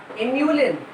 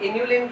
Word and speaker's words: inulin: Inulin. And what is this? Insulin. इसको अक्सर लोग इंसुलिन पढ़ लेते हैं गलती से, तो स्पेलिंग ध्यान रखने का कि हम इंसुलिन की बात नहीं कर रहे, हम इन्यूलिन की बात कर रहे हैं.